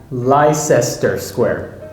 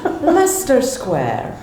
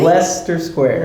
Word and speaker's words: Leicester Square: If I were to pronounce this word, I would say Leicester Square. And nobody would understand you. It's Leicester Square, okay? Leicester Square. Leicester Square.